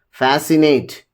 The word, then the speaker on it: fascinate: The rule one here is the letter C is usually not pronounced in the combination of S and C. Here, if you just look at scissors, ascent, fascinate, muzzle, in all these, C is silent.